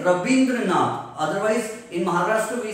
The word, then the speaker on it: Rabindranath: And it is Rabindranath. But in Bengal, Va is pronounced as Ba. So they say Rabindranath.